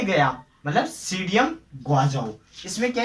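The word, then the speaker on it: Psidium: सीडी से गया मतलब सीडियम गुआजाओ, इसमें क्या है, पी साइलेंट रहता है ना, ये आप देख लेना, पी साइलेंट रहता है। सीडियम गुआजाओ इसका बोटेनिकल नेम है।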